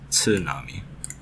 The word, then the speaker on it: tsunami: See a word like tsunami. We always say this word like there's no T at the beginning, but in Japanese, I mean, you really pronounce the T. It's tsunami.